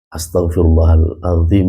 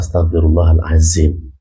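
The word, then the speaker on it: أستغفر الله العظيم: film kita sering menyaksikan kata astagfirullahalazzim itu pengucapannya adalah Astagfirullahalazim Jadi kalau dalam bahasa Arab berbeda huruf bered beda harakat itu sudah merubah makna berbeda ketika kemarin kita bahas tentang cara menulis ya kalau cara menulis itu berbeda lagi kalau ini pengucapannya kata azim dengan Azim itu jelas berbeda makanya kita harus hati-hati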